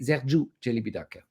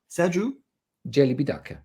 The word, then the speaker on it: Sergiu Celibidache: Basically, Romanian pronunciation is absolutely almost totally identical with Italian pronunciation. It is. So you say Sergiu Leone, you say Sergiu Celibidache. Yeah. Sergiu Celibidache.